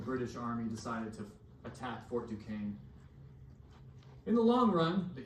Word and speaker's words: Fort Duquesne: He accidentally attacked a French fort called Fort Duquesne. That's how you pronounce that. Fort Duquesne, which is now the city of Pittsburgh.